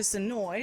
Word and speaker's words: Senoia: we traveled down to sonoy and we are here with tiffany the manager of the woodbury shop hi guys you even said sonoy right which is awesome i learned the lesson